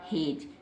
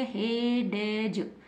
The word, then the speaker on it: hedge: क्योंकि डी को हमने नहीं पढ़ा है, अगर हम पढ़ेंगे हेडेज, हेडज, तो ये रॉन्ग हो जाएगा, इसको गलत नहीं पढ़ना, डी को यहाँ पर साइलेंट रखना है, डी को नहीं पढ़ेंगे तो क्या बन गया?